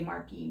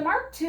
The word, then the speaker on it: Mark II: i mean nope and it's spelled where you want to say marky but you know that's gotten me a few times so this the mark ii is just an exquisitely